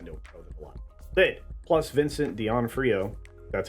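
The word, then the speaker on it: Vincent D'Onofrio: show which I know a lot did plus Vincent Deon Frio that's how you say his name is back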